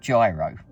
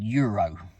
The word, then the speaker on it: gyro: Anyhow, so but I've seen recently, or somewhat recently, that they did what I would call gyro. It's spelled Gyro, which to me spells gyro. Apparently it's called Euro.